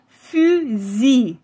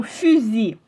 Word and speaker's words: fusil: Et oui, bien sûr, le mot ici, on ne prononce pas la lettre elle à la fin. On va dire fusil. La le dernier son compromon c'est i, son fusil.